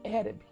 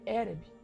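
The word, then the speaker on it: ערב: A fonética dela é Ereb. É bem interessante, né? Essa parte aqui. Então a mistura ali que tem do ferro e do barro, a pronúncia dela no hebraico é Ereb, né?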